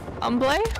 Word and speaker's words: Humble: Unless you're talking about the city that's north of Houston called Humble. Boy out. Umble? Harambe? Harambe? No. R.I.P. But why don't we pronounce the H in herb?